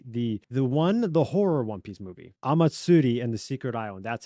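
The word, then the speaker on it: Omatsuri: the Baron Amatsutsi, the horror One Piece movie, Amatsuri and the Secret Island.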